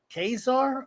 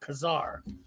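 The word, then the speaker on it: Ka-Zar: you say it now do you say kazaar or khazar i used to say just kazaar and i have it but it i think it's kazaar a character as old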